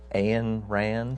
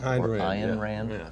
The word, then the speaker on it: Ayn Rand: This is by I believe her name is pronounced Ayn Rand. Ayn Rand.